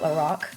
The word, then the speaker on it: Lorac: palette number two that's how you say it l Rock and I'm taking the shade cool gray which